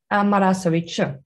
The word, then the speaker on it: Marasović: I'm going to guess that it's Marasović. That's pretty good. How do you say it? Marasović with ch in the Marasović.